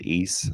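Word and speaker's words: Ys: of a game called ease 3 well it's spelt y s and it's like an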